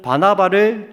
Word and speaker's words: 바나바: 이 말은 바나바를 주도적으로 해서 이제 바나바가 주도적인 역할을 했다는 것입니다. 근데 13장에서 바울이 설교한 이후부터는 바울과 바나바, 발음이 안 되나? 바나나가 아닙니다. 자, 바나바.